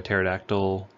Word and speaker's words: pterodactyl: you cannot hear a pterodactyl go to the bathroom because the P is silent anywho we're going to